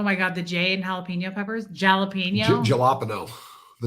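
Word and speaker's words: jalapeño: and they called it the galapo tree but I mean they knew they were saying it wrong but not was what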